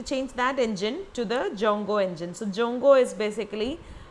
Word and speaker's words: Djongo: uh Jango okay so its name is jongo so don't uh don't